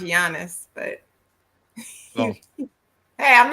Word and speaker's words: Giannis: his name is Giannis it's pronounced with a Y but you call it you you call him Giannis which I think think